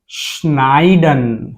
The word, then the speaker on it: schneiden: coupled yeah so the the real pronunciation of is schneiden here we call it as I here it is sha so schneiden schneiden means